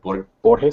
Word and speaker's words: Borges: by Jorge Luis, I don't know, is it Borges? How do you say it? Borges, yeah.